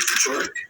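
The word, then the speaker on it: Paciorek: And just real quick, I just want to make sure we're pronouncing it correct. Is it Pachorik? Yes.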